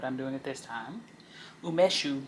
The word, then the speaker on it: Umeshu: Umeshu, pronounced Wumeshu. Oh, it's Wumeshu.